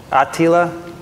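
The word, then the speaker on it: Atila: how to pronounce that it's a portuguese name ati a-t-i-l-a attila attila it's not attila dear hosts on twitter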